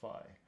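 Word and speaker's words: phi: just a quick correction this right here is actually pronounced fi okay so um how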